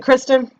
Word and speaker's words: Kristen: do you say your first name is it Kirsten or Kristen duns Christ is it Kristen yeah you know she was a little turd